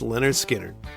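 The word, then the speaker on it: Lynyrd Skynyrd: Next up, we'll be flying high with number 268, pronounced Leonard Skard.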